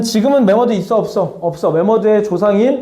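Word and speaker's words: 매머드: 만모스가 콩글리지. 오케이? 메머드가 올바른 표현이고. 자, 메머드 만머스 똑같은 거야. 그래서 우리는 정식 명칭으로 메모드라고 부르면 됩니다. 자, 신생대 때는 지금은 메모드 있어? 없어? 없어. 메머드의 조상인 아, 조상이래.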